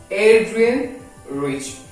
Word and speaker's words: Adrienne Rich: How you pronounce? It's Adrienne Rich.